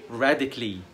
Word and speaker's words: radically: يبقى C-A-L-L-Y هنطقها كلي، physically basically scientifically radically.